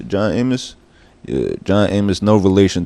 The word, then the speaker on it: John Amos: How you pronounce? John Amos. John Amos.